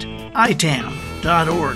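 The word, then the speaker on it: ITAM: by i-i-i-t am dot-org that's pronounced itan org they're the only global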